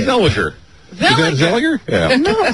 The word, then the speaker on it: Zellweger: Zellweger. Is that Zellweger? Yeah. No, there's... All right, let's hear Renee you. Zellweger. There's a W. Clearly a W.